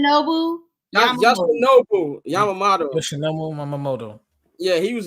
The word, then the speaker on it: Yoshinobu Yamamoto: Yoshinobu Yamamoto. That's how you pronounce his first name? Yoshinobu Yamamoto.